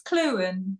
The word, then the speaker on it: Clughen: Am I pronouncing your surname right, Lisa? It's Clughen, but let me tell you that nobody in Britain would pronounce it correctly either.